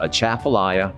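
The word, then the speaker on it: Atchafalaya: difficult when you look at it but it's pronounced a chaffelaia basin and it's a large body of water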